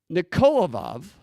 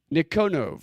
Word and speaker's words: Nikonov: Nikonov, that's his name. I've been pronouncing it way off.